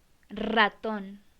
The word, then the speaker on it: ratón: Ratón, ratón, ratón. This is a vibrant one.